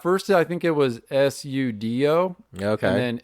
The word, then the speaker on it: Seudoe: just dropped a K and Yeah, at first I think it was Sudo, okay. and then Suedo, and then I took how you spell it, which is Pseudo, and I just dropped the P, Oh shit.